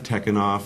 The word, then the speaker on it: Tekunoff: my email is tekken off at gmail com it's my short first name dan tekken op te que un o FF spelled just like you pronounce it godfather changes the spelling